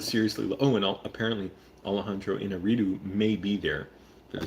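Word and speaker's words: Iñárritu: I'm not saying it like that to make fun of his name. I actually try and pronounce Spanish, or in this Mexican name, but correctly. But Alejandro Inarritu, I'll say it more American way.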